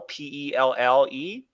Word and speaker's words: Pelle: I'm guessing it's a pronunciation. It's their cat Pelle, P-E-L-L-E.